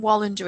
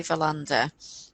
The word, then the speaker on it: Wallander: Yeah, because Young, they call him Wallander in the series, which I don't like because it should be Verlander.